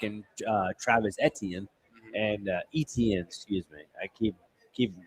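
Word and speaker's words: Etienne: Well, now you're without your bellcow running back and uh Travis Etien and ETN, excuse me. I keep keep mispronouncing.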